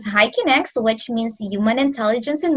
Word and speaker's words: HIKINEX: next one of course our company is pronounced as hiking x which means human intelligence